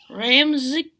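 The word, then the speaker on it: Ramczyk: it but saints of tackle ryan can you pronounce that thing ryan ram ryan ram ryan r-a-m-c-z-y-k ramsey yeah kind of like kyle you check it's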